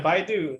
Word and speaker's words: Baidu: But eventually, companies like Alibaba, Amazon, and the WeChat support, the Baidu, is that how you say it? Like, how do you say it, Ritesh? The Alibaba competitors. Okay, the Baidu. Yeah, Baidu, they are acquiring warehouses.